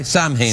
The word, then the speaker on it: Samhain: It's Sam Hain today. It is. Good old Sam. Sam Hain. Yeah. Yeah. It's pronounced Samhain.